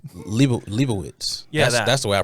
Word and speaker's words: Leibovitz: It's, Leibovitz. Leibowitz. Yeah, that's the way I pronounce Oh. it anyway. Leibowitz. See, I put a V in there because I think I'm German or something.